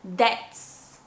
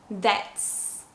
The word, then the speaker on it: debts: So when you have B plus T, then the B is silent. For example, debts, debts, or settle, settle.